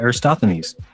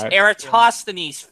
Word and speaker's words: Eratosthenes: They even tell us about Aristophanes and that he measured the circumference and came within 2%. Get of it current right. 24,000. Well, Jism does have a general problem with pronouncing names. It's Eratosthenes, fuckstick.